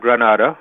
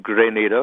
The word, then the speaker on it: Grenada: up around Grenada right you're absolutely correct it's not Grenada no the city in space it's great NATO yes okay so see